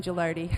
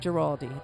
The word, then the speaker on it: Gilardi: your real name Gilardi okay the rhymes with party it's not geraldi okay thank you that's